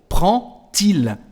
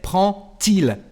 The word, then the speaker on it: prend-il: And the pronunciation of the letter D is like a T. So, prend-il. We say prend-il.